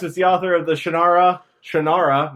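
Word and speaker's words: Shannara: a kid Shakira no not like Shakira not like Shakira at all yes maybe it has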